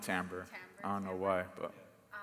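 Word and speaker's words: timbre: I definitely think the the timber the timber yeah they pronounce it tamber.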